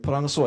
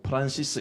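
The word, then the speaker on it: François: 들만 좀 하시면은 프랑스에서는 프랑스와 일세 예이 프랑스 발음이고 프란시스 일세 이렇게 미국 발음으로 하죠 또 헬리 8세 헬리는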